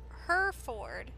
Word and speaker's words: Hereford: served early oh and it's pronounced her her ford her ford shire no not shire her chest everything sounds